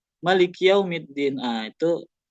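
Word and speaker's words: مَالِكِ: Misalnya Maliki yaumiddin harusnya dibaca panjang Maliki yaumidumiddin tapi bacanya Maliki yaumiddin.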